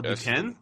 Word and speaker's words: Duquesne: Oh, Duquesne.